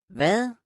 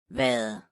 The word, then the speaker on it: hvad: The soft D sound is pronounced commonly when the letter D is present at the middle or at the end of a word. Here are the examples. Hvad? Hvad?